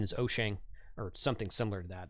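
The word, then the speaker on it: Wouxun: spelled walks on I I usually call it wax on but the product correct pronunciation is oshang or something similar to that that's as good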